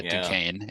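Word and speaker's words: Duquesne: to is it pronounced it's pronounced Duane okay yeah Duane in that 116 so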